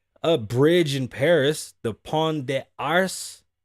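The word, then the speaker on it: Pont des Arts: bridge in paris the pawn de arse you don't pronounce the t's hold up don't move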